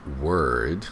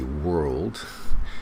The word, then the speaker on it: world: word world they say word there's an owl in there so if you're a Chinese speaker and when I say world try to get that all in there otherwise it's gonna sound like word okay so with superlatives